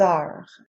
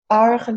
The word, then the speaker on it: heure: The H at the beginning of Heure. is silent, so the word starts